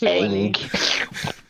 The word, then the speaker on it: Aang: Actually, it's pronounced Aang.